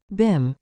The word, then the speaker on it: Bim: and Mink's eyebrows Rose your beam is that how you pronounce it Bim said the other b i IM Christian named Cherry Cherry